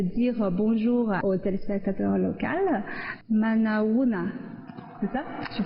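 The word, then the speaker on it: Manao ahoana: Manaouna. C'est ça? Je prononce bien.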